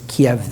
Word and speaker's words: Kiev: Moscow Kiev and Yalta it was Kev then not keev the Ukrainian pronunciation and I didn't really